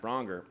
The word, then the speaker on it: Braunger: on my first podcast ding donger with broner and was a great title i miss it sometimes but i invented it so people knew how to say my name if i'm honest were